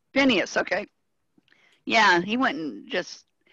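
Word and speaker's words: Phinehas: god but venice how do you say that ben finishes yes what barbara how do you say that name phineas phineas okay yeah he went just and remember i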